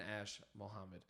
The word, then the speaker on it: Ash-Mohammed: Our guest today is the fantastic Ash-Mohammed. He is a G. Did I say your name correctly? You did say my name correctly.